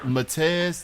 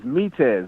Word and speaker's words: Metez: Is it Matez? That's what his name is. It's Metez.